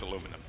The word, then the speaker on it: aluminium: even get started on aluminium oh no it's aluminum and it's a garage you pronounced it wrong for so long you added a definition